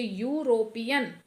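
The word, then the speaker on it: European: बट आप इसे pronounce कीजिए। यूरोपियन। यू की साउंड आ रही है। कंसोनेंट की साउंड आ रही है। ठीक है? वोवेल की नहीं।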